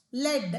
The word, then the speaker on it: lead: அதாவது நீங்கள் வந்து அந்த இடத்துல அது வந்து துத்தநாகம்ங்கிற ஒரு மெட்டீரியலாக வந்துச்சுன்னா you need to pronounce it அஸ் லெட்.